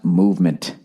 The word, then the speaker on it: MVMT: this week all right mvmt watches everybody pronounced movement oh that's what i'm